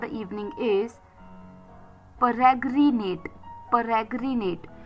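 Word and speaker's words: peregrinate: तो चलिए फिर the first word for the evening is परग्रिनेट। परग्रनेट पी ई आर ई जी आर आई एन ए टी ई परग्रिनेट I repeat P ई आर ई जी आर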